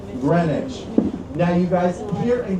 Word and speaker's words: Greenwich: If you ever saw Greenwich Village spelled out on a map, it is spelled just like Green Witch Village. But because this is New York and we like to make everything just a little bit harder, we called it Greenwich.